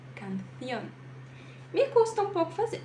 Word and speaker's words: canción: Então, ao invés de pronunciar canción, canción, canción, você dá uma prendida na letra C, canción.